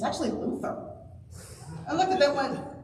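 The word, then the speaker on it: Fflewddur: about Welsh so like there's a character whose name has two fs and two L's and two D's and I thought was pronounced flutter and here going by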